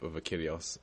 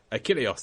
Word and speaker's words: Achilleos: of a map of Achilleos, and there were 5 Wait, how do you exits. say it? How do you say it? Achilleos. Achilleos! There it is. Sorry, I apologise. Like in Troy.